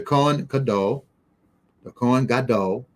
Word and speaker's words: Kohen Gadol: In addition to Kohen Gadol, that's how you pronounce it in Hebrew, high priest.